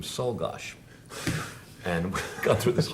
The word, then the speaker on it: Czolgosz: unfortunately told me that the family pronounced the name Solgosh, and we got through this whole show pronouncing it Czolgosz.